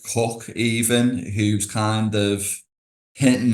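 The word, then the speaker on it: Coke: chief justice Edward cook pronounced cook of course as we've said not pooke um yeah but but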